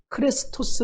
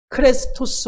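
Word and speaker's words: χρηστός: 친절하게 라고 하는 단어는 헬라어로 클래스 토스 라고 하는 에 발음을 갖고 있습니다 친절하다 클래스 소스 클래스 토스 와 아주 유사한 발음이 무엇입니까 예수 그리스도 라고 할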